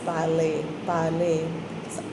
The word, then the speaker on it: parley: Now, next is parley. R is silent. Parley.